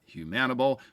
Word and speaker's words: Humanable: That's right, Humanable, not Humanable.